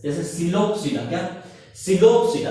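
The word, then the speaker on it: Psilopsida: जो इसका पहला क्लास है वो है सिलोप्सिडा। क्या है? सिलोप्सिडा। पी साइलेंट रहता है, सिलोप्सिडा, ठीक है।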